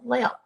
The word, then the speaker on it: Lael: I always used to tell people it's Gail with an L. Gail Lael.